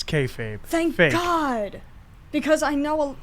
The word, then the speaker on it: kayfabe: time as a universe you know the you pronounce it kayfabe right I'm not crazy yes it's kayfabe thank God because I know I I I said kayab one time and someone got real snoody with